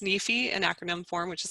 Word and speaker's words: NEFE: the national endowment for financial education it is pronounced nifi in acronym form which is surprising to a